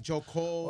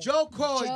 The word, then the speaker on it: Jo Koy: really does it's not Joey it's not Joe Cole it's not Joey Cole Joey stroke boy jo koy jo koy jo koy seems pretty easy but joke boy all